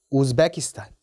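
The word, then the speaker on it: Uzbekistan: 우즈베키스탄도 유로 시작하는 게 맞긴 한데요. 또 이 아이는 약간 다릅니다. 우즈베키스탄이 맞아요. 우즈베키스탄. 유고슬라비아는요?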